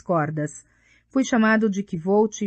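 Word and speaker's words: Kvothe: Meu nome é Kvolt, com pronúncia semelhante à de Quote.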